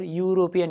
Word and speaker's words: European: Okay, what sound is there? European, U. It's giving consonant sound.